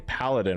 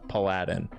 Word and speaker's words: paladin: Instead of saying paladin when I was a kid, I used to think it was paladin, like Aladdin, but with a P in front of it.